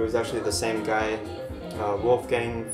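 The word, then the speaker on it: Wolfgang: actually the same guy Wolf Gang folk or Wolf Gang if you want to pronounce it as the in Germany but the album there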